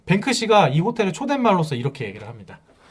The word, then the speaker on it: 뱅크시: 그거 영어 영국식 발음으로 얘기하면 돼. 그대로. 비슷해요. 비슷해요. 아 뱅크씨 성공.